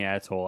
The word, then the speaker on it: Atoll: It's like Bikini Atoll or Bikini Atoll. I don't know, Yeah. correct pronunciation. I think Atoll's correct. I believe it's ATOL.